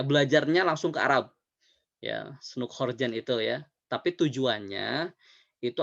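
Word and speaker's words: Snouck Hurgronje: ya bacanya Snoekhorgen ya.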